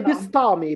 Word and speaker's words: Bistami: c'est Bistami, Bistami.